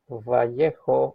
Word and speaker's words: Vallejo: Let's see how this material reacts with uh plain Vallejo or Vallejo depending on your on your pronunciation surface primer.